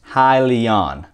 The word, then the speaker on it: Hyliion: stands for hybrid lithium ion and it is pronounced highly on i was actually mispronouncing it for a while